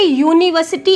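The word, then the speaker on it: university: तो यहाँ पे यूनिवर्सिटी इंग्लिश में तो वोवेल है, लेकिन हिंदी में इसका जो प्रोनाउंसिएशन होता है वो या से होता है, तो यहाँ पर क्या आ जाएगा, ए यूनिवर्सिटी डिग्री।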